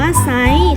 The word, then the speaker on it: ไซร้: กัน นะ คะ คือ คำ ว่า ไซร้ อ่าน ว่า ไซร้ ข้า คำ ชื่อ ป้อม